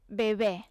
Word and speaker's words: bebè: Sí, el que passa és que bebè s'escriu amb l'accent obert a la E, a l'última E, i per tant la pronunciació és així més oberta.